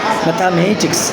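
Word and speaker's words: mathematics: আরও উদাহরণ দিতে পারে আমরা ম্যাথামেটিক্স, তাহলে M এর উপরে আমরা জোর দেব।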